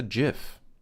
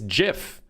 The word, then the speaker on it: GIF: It's GIF. This is GIF. Not GIF. There's a J, not a G.